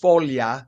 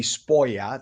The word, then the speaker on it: sfoglia: So they mispronounced sfoglia, which means leaf, to be spoia.